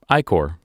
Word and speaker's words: ichor: It does also include letters, but it is spelled Oh, ICHOR. iCore.